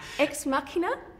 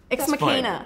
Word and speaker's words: Ex Machina: But How would you pronounce it? You are terrible, Muriel. Ex machina? Ex machina. Ex machina.